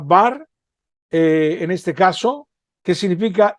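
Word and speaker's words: בר: En español se pronuncia bar, en este caso, que significa hijo o nieto.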